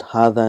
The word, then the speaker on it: هذا: So we've learned that hadha and dhalika is one of those words where it is pronounced but it is not written.